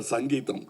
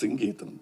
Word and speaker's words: Geetham: For once and all, in Kodambakam, there was always a confusion how to pronounce his name. In Tamil Nadu, he used to get very upset because say, Mr. Sangeetham. No, it is Geetham, please. But after 40 years, you cleared it. Now nobody can mispronounce. Nobody will call him Sangeetham. Now he is back to his original name, Geetham.